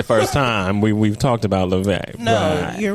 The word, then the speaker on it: Laufey: It's Icelandic. Okay. Law sounds like lay, and Fey sounds like vey. So Laufey. Laufey.